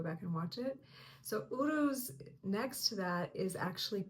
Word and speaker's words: Uruz: Today we are going to talk about the next rune, which is pronounced Uruz.